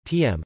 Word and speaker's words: Tomme: Tomme, French pronunciation, TM, occasionally spelled Tomme, is